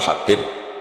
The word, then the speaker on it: Habib: Ada yang nulis Abi Abdurrahman Habib Asulami. Itu di harakatnya kitab itu ada yang nulis subab loh. Yang benar. Oh, nggih. Yang benar itu bacanya habib.